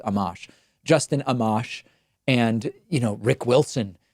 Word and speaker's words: Amash: I know it's not Amash. I think I pronounced it Amash and someone said it's Amash.